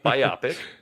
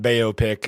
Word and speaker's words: biopic: how to pronounce it Scott Baio pick is what he's saying that's how you do it according to the internet no I think the